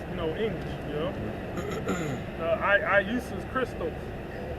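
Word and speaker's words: Ἰησοῦς Χριστός: Iusus Christos. And that's how you say it in the Greek.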